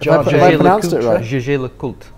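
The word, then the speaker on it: Jaeger-LeCoultre: Jaeger LeCoultre. Oh, very good. That is how you pronounce it.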